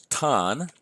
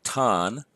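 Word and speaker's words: τόν: do that as ha the accusative singular is tun the English transliteration for that would be ton the Greek would be tau Omicron with an acute accent and then nu so tun over to the plurals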